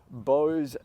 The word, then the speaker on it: Bose: purpose, and it's the Bose Soundsport IEM. Now, I know that as soon as you mention the word Bose, that single syllable, people get their pitchforks out.